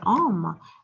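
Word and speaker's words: homme: here i wrote here oma and as you know that we don't pronounce h and the oh it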